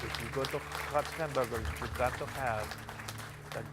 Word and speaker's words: Huts Hamburgers: That's spelled H-U-T-S Hamburgers.